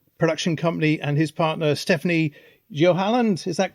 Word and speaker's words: Stéphanie Joalland: director, Frenzy's film production company, and his partner Stéphanie Joalland. Is that correct? Have I pronounced?